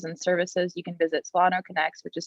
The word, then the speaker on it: SolanoConnex: emotional health resources and services you can visit solano connects which is spelt c-o-n-n-e-x dot org you